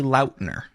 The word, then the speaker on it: Lautner: about it on a recent podcast listen technically Lautner what it is my fault nobody knows how it's actually pronounced because I never corrected anybody decades no